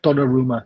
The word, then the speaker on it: Donnarumma: Donnarumma, that's how you pronounce it.